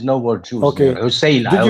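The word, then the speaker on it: عسيلة: Is Usayla, not Asila. It is Usayla.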